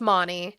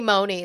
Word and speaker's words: Monty: Is Monty short o sound or long o sound? Oh, it's Monty because it's Monica. Some people call me Mooney though.